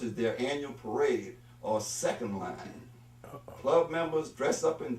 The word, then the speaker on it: second line: First of all, he said second line, when in fact it's second line. He put the emphasis on the first word, not the second word.